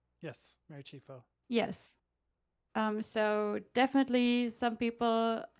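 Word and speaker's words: Chieffo: Chifo? Yes, Mary Chifo.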